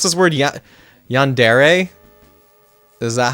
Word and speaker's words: yandere: Yandere? Is that how you pronounce it? I always want to say Yandir in my head, but I feel like that's wrong.